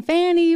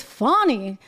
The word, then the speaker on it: Fani: care about pronunciation and I've been saying Fanny but apparently it's funny something that was not